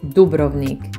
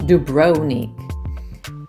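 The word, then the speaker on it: Dubrovnik: number six is duik you should pronounce it duik not duonic every time I travel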